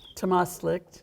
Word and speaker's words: Tamástslikt: Tamástslikt.